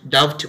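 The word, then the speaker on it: doubt: যেমন ধরো এটা মোটামুটি আমরা সবাই রাইট প্রোনাউন্সিয়েশনটাই করি, ডাউট, এখানে দেখো টি এর আগে বি আছে, এখানে কিন্তু আমরা ডাউট ডাউট বলিনি, আমরা বলছি ডাউট।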